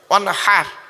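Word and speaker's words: وانحر: এই গলার ভেতর থেকে এটা উচ্চারণ করবে, ওয়ানহার, ওয়ানহার নয়, ওয়ানহার।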